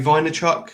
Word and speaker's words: Vaynerchuk: i heard this from uh is it gary vaynerchuk is that how you say it yeah i